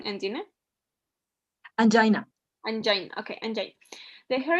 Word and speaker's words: angina: that you are suffering from Ang is correct pronunciation Ang angina angina okay and the hair is a p